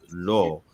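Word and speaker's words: לא: So it's pronounced lo because what's ascribed to the aleph is the cholam, right?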